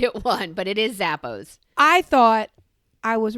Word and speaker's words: Zappos: i'd like to introduce you to my friend zappo zappo will send it to your house and